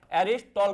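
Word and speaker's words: Aristotle: एरिस्टॉटल कहते हैं। क्या कहते हैं? एक टी साइलेंट है इसमें।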